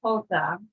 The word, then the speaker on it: jota: The letter J in Spanish is pronounced jota. But whenever you see the letter J in a word, it's got the ha sound like our letter H.